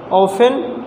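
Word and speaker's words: often: ऑफेन, ऑफेन में भी T letter silent है दोस्तों।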